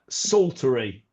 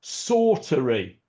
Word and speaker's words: saltire: Um, and so I thought it was pronounced, uh, sulttery. Sulttery, but apparently not. Apparently, it's pronounced sorttery. S as if it was spelled s a w t r y.